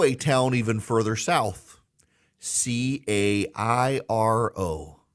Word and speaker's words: Cairo: Now, to me, Cairo is like the corn syrup, Karo. No, Cairo, Georgia. It is spelled like Cairo, looks like Cairo, and it is pronounced Cairo.